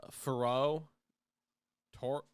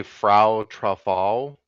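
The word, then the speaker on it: Frau Troffea: all start with this woman, often identified as Faro Tor. You want to try to say her name? say Frau Truffal.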